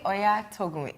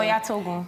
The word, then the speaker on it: Oyatogun: Now joining us, we have Oyatogun, is the founder of TVP Adventures.